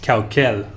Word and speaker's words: Caucel: stones to grind and is pronounced khao khel there are several places